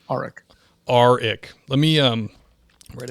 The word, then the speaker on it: Arik: and it's it's pronounced arik just think of the r arik arik let me um